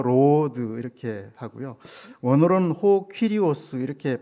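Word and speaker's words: κύριος: 원어로는 호 퀴리오스 이렇게 발음하는데 생명의 주인, 이런 뜻이 있다고 합니다.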